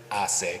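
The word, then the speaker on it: HACE: Keep in mind that in Spanish the H is silent but the E never is. So the correct pronunciation is assay.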